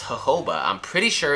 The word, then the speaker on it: jojoba: sure it's jojoba jojoba this specific sound in english is very light it's a very soft exhale jojoba just make sure that o after the second j is there jojoba you got it it's